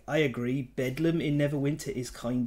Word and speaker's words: Bedlam: Bethlehem Royal hospital and it became called bedum because of pronunciation through like pronunciation changed a great deal in the uh English